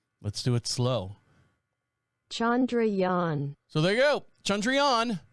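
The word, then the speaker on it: Chandrayaan: castle the spacecraft that landed on the moon Chandra Yan chandrian there you go one more time Chandra Yan let's do it slow Chandra Yan so there you go chandrian landed on the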